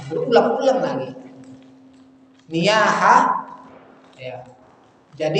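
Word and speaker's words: نياحة: Niyaha, ya. Jadi nihaya. Ya, niyaha kan orang yang apa? Ya, meratapi mayit. Dia bacakan dalil yang seharusnya dia sebut niyaha jadi nihaya. Diulang-ulang lagi.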